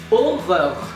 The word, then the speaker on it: horreur: Well, like horror, but you pronounce every single R and you don't pronounce the H. That's legit it. And the thing is, this word is so hard to pronounce because it's the exact same, but you need to completely change the pronunciation. So, horror, you remove the H, aura, and then you pronounce every single R as a French R.